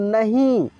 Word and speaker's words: नहीं: नहीं। जैसे ही बिंदी दिखेगा उस अक्षर में, उसका उच्चारण हम लोग नाक से कर देंगे, नहीं।